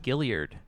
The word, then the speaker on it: Guillard: news Outlet I mean he's also saying Gilead is how you pronounce it yeah you are